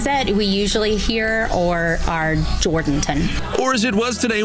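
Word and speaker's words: Jourdanton: the only town in the area that's been mispronounced. The ones that we usually hear are Jordanton. Or as it was today with an out-of-town caller. Jordantown.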